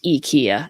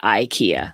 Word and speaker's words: IKEA: thinking about it but it's ikea it's not ikea that was for you